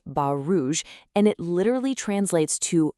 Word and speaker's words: Bas Rouge: In French, this dog is often called Bas Rouge. Now, that's pronounced Bas Rouge, and it literally translates to red stockings.